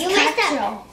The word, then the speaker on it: quatre: No, it's quatre. It's quatre.